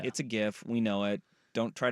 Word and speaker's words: GIF: should be in Gil it's not a draic interchange format it's Graphics interchange format hard G GIF I love how upset